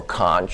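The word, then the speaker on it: Kant: his name is emanuel conch you should pronounce it can but that's just it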